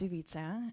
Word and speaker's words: Ivica: here yeah so um the way um I pronounce my name is ubisa and um I do